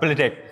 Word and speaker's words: bledek: Nah, Jadi yang bledek gimana bacanya? beledek. Beledek.